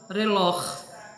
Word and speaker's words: reloj: Se a acentuação acaba em vocal, como por exemplo a palavra reloj, a sílaba forte no caso é o lor.